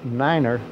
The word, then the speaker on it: niner: jargon is definitely out following the prescribed pronunciations as in Niner four nine for example is the way to go cutting corners is out